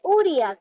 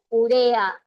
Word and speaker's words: urea: No existe uria. ¿Qué dijimos en clase? Urea.